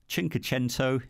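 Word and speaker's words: Cinquecento: delighted when Fiat brought the chinko Gento that's how you say it the 500 back and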